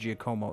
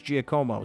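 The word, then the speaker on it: Giacomo: And then when I tried to get it right, he did tell me it was Gcomo.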